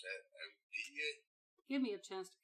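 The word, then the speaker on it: O'Dea: Odia. Give me a chance to catch up on Google. What's your name? Okay, so we're doing Night of the Living Dead here? Odia. O'Day?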